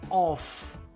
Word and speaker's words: off: with the sound of an audible F is pronounced as off off ending with the sound okay that is the